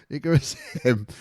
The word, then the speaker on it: Icarus M: The M is silent. Icarus M from 1AR clan.